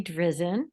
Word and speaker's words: Drizen: a statement thanks uh my name's pronounced drizen just I'm sorry yeah yeah